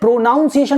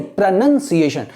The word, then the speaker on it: pronunciation: तो जो आपका क्या है? प्रोनाउंसिएशन नहीं, प्रोनंसिएशन।